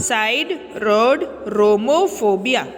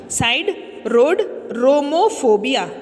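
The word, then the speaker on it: siderodromophobia: सी, आई am breaking the spelling so that it is easier for you to pronounce, आपको pronounce करने में easy हो, इसलिए मैं तोड़ के बता रही हूँ।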